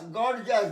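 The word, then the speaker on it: gorgeous: গর্জাস, জাস কথাটা হচ্ছে জাস, গর্জাস Zia's নয়, গর্জাস, গর্জাস। তারপরে আসছে ও স্টপ, স্পট, লস্ট, অস্ট্রিচ, পকিউপাইন, দেখো পকিউপাইন, এটা আবার প আর পকিউপাইন মানে তোমার সজারু।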